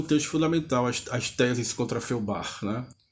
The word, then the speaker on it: Feuerbach: Não é um livro, mas é um texto fundamental, as teses contra Feuerbach, né? Que pronuncia-se mais ou menos como se foi ao bar, né?